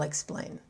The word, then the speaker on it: explain: We tend to stress two-syllable verbs on the second syllable. So let's begin. Begin. And I'll explain.